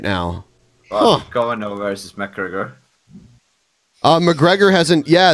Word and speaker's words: Kavanaugh: You made me mispronounce it when you said Kavanaugh or whatever you said. Yeah. I'm like, What? Kavanaugh? Well, Is that not how you say it? It's Kavanaugh. Kavanaugh.